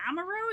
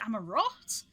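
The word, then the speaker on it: Amaurot: Which is why for a long time I was like, is it Amaro? Is it Amarot? Don't know. But nah. Don't pronounce the T.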